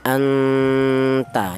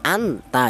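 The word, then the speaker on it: أَنْتَ: Jangan dibaca jelas seperti idhar ya anta ya. Jangan an. Ta jangan beda yang ini ya. Ini kan kun. Ah, jelas nun matinya kun kalau yang ini samar jangan an jangan anta jangan tapi disamarkan. Inilah yang namanya ikhfa ya. Cara bacanya seperti ini. Anta seperti itu.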